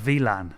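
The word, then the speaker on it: WLAN: it VII no it's not it's it's uh VLAN which is w V is like a w that's German pronunciation so if someone goes into a bar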